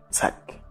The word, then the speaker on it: psych: A letra P no começo da palavra não é pronunciada. Existe apenas um arzinho na pronúncia, por isso, para representar, colocamos este apóstrofo na palavra para facilitar a pronúncia.